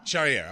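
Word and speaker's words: Charrière: Charriere. Charriere.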